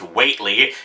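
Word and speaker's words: Whateley: who the hell is Whatley well apparently Watley pronounced weightly is actually a character from HP lovecraft's the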